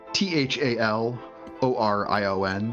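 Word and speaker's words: Thalorion: T H A L O R I O N. So, it looks like Thal Orion.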